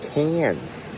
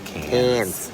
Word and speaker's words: Cairns: But, we are You're saying it wrong. It's Cairns. It is Cairns.